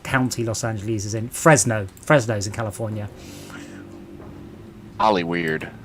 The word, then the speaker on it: Fresno: it a silence is it just for no fresno not freight freino we've got two pronunciations of the same state come on now